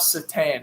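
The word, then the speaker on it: Šatan: say the european names i know it's miroslav satan i know that i know that's how you say it because that's how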